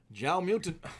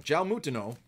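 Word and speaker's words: João Moutinho: Jao Mutin, I almost said it wrong. Jao Mutino from Wolverhampton.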